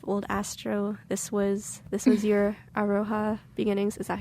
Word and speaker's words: Aroha: This was your Aroha beginnings.